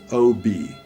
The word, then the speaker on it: Ob: We arrived at a place called Novosibirsk, and then a town called Tomsk, and the huge river Ob, O-B, in Russian it's pronounced Ob, and up that river by barges through incredible forests, swamps, towards the Arctic Circle almost.